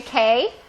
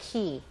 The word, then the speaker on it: Cay: Now, it looks like Castaway Cay, but in the Bahamas, they say Cay, C-A-Y, Castaway Cay.